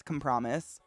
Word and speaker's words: compromise: to be like, actually, you did a good job phonetically, but you just put the wrong emphasis on the wrong syllable.